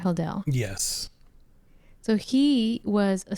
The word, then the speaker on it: Hodel: Am I saying it right, Hodel?